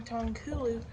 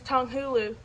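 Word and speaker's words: 糖葫芦: if you're not making tonku learned how to say it y'all candy fruit is tong hulu i just put it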